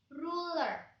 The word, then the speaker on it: ruler: Penggaris bahasa Inggrisnya adalah ruler. Ruler. R yang di belakangnya hilang.